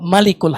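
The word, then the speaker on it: ملك: Ini mimnya pendek. Ada lagi mimnya pendek juga di surat Al-Mu'minun ayat 116. Fata'alallahul malikul haq. Maha suci Allah Raja Al-Haq yang benar. Pendek.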